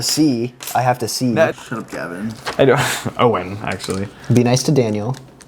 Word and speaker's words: Owen: but uh my name did I get your name wrong again my name is Owen it's not Payton Owen Owen Owen Owen just